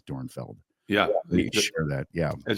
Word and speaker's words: Dornfeld: I just double checked how to pronounce it's dor dorfield like no it's dornfeld yeah share that yeah